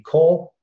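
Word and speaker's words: קול: So voice is going to be kol. We have it set. Kof and Lamed, it's pronounced Kol.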